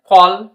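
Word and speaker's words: call: Next এক্সাম্পলটি দেখি আমরা, বি A double L বল, সেরকম ভাবে সি A double L কল, এস এম এ এল এল স্মল, স্মল। সো তোমরা বুঝতে পেরেছো রুলসটি কিরকম ভাবে উচ্চারণ হচ্ছে, কতটা ইম্পর্টেন্ট বা জরুরি।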